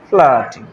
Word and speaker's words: Flaherty: ও ফ্লাহার্টি কে লিখেছে ফ্লাহার্টি এফ এল এ ফ্লা এইচ ইআর হার্টি ওয়াই টি ফ্লাহার্টি কিন্তু উচ্চারণ করার সময় ফ্লাহার্টি হয়েছে তো ফার্স্ট ফ্লাইট যেটা